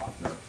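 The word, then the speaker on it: Loughner: It's L-O-U-G-H-N-E-R, Lochner or Lochner.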